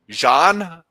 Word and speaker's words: Jean: would pronounce your name Yin Ian or Yan how do you would pronounce it h Jean John French so if I started talking French well I can't even do accents anymore John John yeah John okay that's